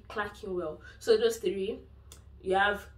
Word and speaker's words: Clerkenwell: You don't pronounce it as, I mean, because it's starting with Clerk. A lot of people say Clerkenwell, but it's actually Clerkenwell.